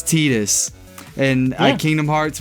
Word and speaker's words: Tidus: Titus is like Titus Tidus- sounds weird to me. Tidus is how you say his name in freaking Final Fantasy X, where he comes Oh, from.